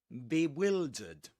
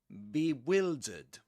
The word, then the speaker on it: bewildered: And you've got to pretend it's spelled like this. be will. And here you can dud. You can say you can pretend it's spelled like this. Bewildered. Bewildered. Like the verb the auxiliary ver the auxiliary verb will.